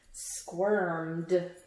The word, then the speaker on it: squirmed: That means that you're going like this, like squirmed. Which ED does it sound like? Squirmed. I got it. Do you? Squirmed. It's the D sound at the end.